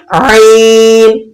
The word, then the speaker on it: ع: आइन, आइन, आपने इसको इस तरह से प्रोनाउंस करना है, इसकी आवाज को बिल्कुल दुरुस्त तरीके से अदा करना है।